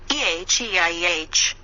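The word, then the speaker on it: Eheieh: the west draw the pentagram and then vibrate eh e IH pronounced a hiya it means an for continued the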